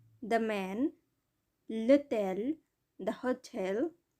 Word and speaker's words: hôtel: l'homme, the man, l'hôtel, the hotel, এটাও silent H দ্বারা শুরু হয়েছে।